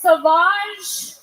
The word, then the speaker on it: Sauvage: Johnny Depp has a fragrance called Savage, pronounced Sauvage.